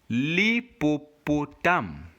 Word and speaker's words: l'hippopotame: But in virtually 98% of French words, the H is always silent. Just like in the word we're going to pronounce here, you will not get the H being pronounced.